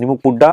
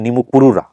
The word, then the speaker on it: নিমুকপুরুরা: আপনি যা যা বলছেন, নিমুকপুড্ডা আসলে এলাকার নাম হচ্ছে নিমুকপুরুরা। এলাকায় হয়তো উচ্চারণ নিমুকপুড্ডা বলে। শুদ্ধ ভাষা।